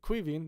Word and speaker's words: Caoimhín: Kelleher, Caoimhín, that's how you pronounce his first name if you're just coming in.